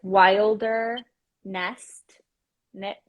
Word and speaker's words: Wilderness Knits: So it's like Wilder Nest Knits. Am I saying it right when I say Wilderness? Because I just think it sounds like wilderness.